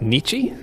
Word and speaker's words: Nietzsche: Nietzsche?